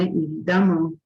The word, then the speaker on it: évidemment: Évidemment, se escreve com E, mas se pronuncia com A.